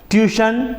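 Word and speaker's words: tuition: है शन पढ़ा गया ट्यूशन टी आई ओ एन है लास्ट में यहां भी शन पढ़ा गया और नेशन एन ए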